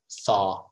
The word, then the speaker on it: thaw: melt it's called thawing thaw tha so what you do is you put your tongue like that okay just do this and then pull it back think back just practice that think three three scottish